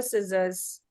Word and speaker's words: scissors: Can I borrow your scissors? See, again here, the C is silent.